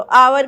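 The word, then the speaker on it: hour: अभी मैंने कहा की हा जो है वह साइलेंट होता है तो अवर का साउंड आता है इसलिए इसमें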